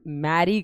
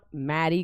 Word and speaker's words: Merry: अब कुछ बोल रहे हैं मैडम मैरी क्रिसमस। शादी थोड़ा ना हो रही है क्रिसमस की। इट्स नॉट मैरी Christmas, it's मेरी क्रिसमस। MERRY।